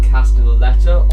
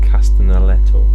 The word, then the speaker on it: Castellaneta: There's also Dan Castellaneta of.